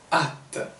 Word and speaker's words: hâte: じゃあ、ちょっと発音の練習、しましょう。J'ai hâte。J'ai hâte。